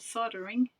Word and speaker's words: soldering: Because there's an L in the word.